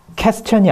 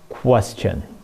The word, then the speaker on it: question: 그럼 어떻게 돼 있냐면은 question이 아니고 중간에 이게 W가 들어가 있어요. 그래서 W 발음은 찾아보시면 나올 거예요. 입술을 동그랗게 만들어야 된다. question.